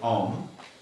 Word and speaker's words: Om: it starts off with Om. Then Om means everything auspicious. Auspicious. Not suspicious. Auspicious. You know, every mantra starts with Om. Om. It's 3 syllables. O, Ma. Om is 3 syllables.